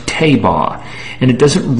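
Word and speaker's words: תבה: Anybody can get a Strong's Concordance and find out that the word for ark in the ancient Hebrew is pronounced tabah, and it doesn't rhyme with anything to do with the word ark, A-R-C.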